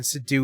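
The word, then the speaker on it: Seydoux: l e a yeah and then Sido is French so s e y d o u x gotta s sad okay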